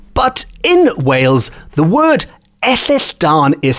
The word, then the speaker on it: Ellylldan: over the centuries but in wales the word ethisdan is spelt it's one word e double l y